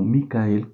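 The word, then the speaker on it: מיכאל: Y el arcángel Miguel o Micael, como es como se pronuncia en hebreo, su nombre significa quien como Dios o el que es como Dios, es lo que significa.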